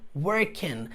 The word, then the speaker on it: working: I am working, levando em consideração que nós não pronunciamos de forma alguma a letra G.